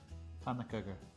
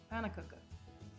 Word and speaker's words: Pönnukökur: Pönnukökur. Pönnukökur.